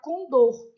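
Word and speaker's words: condor: de falar qundo mas a palavra é oxítona então o certo é pronunciar com dor não tem a senha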